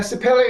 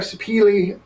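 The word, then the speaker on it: Sapele: Yeah, and a Sapelli or a Sapili, however you are in the world where they pronounce it that way, is a relatively low density mahogany.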